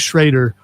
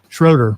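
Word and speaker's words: Schröder: and Dennis Schrader Schroeder rather counted for 20 off the bench. Game three is Thursday night.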